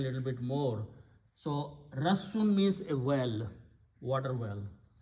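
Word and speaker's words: رَسّ: The root letter Rassun with a shadda, because there are two sin and sound is sin, Rassun.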